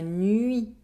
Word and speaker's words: nuit: - The sound The letters “UI” are pronounced . La nuit The night Let’s practice